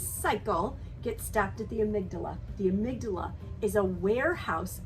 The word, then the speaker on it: amygdala: Next is the amygdala. I've also heard it pronounced amygdala.